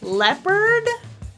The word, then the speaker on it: leopard: jealous measure already also there are a few important instances where the e sound is just spelled with plain old letter A like in any or many e e and some spelling anomalies like again friend and says leopard I might be likely to